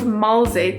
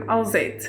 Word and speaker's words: Alzet: In my home language, which is Afrikaans, the word for crazy is mal. It's spelled M-A-L, and my name starts with an A-L, so I've been called Malzet instead of Alzet.